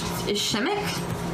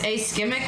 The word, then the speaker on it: ischemic: Ishimic? It's like they pronounce the I like an A. Spell it out. Ashimic? It's ischemic or something like that. Ischemic. Like that. I think that's how you say it.